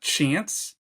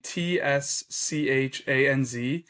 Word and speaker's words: Tschanz: Jonathan, and I hope I'm pronouncing it right, but Jonathan Chance from St. Viator. It's actually Tschanz.